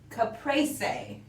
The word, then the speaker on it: caprese: Oh, in Italy, it's caprese.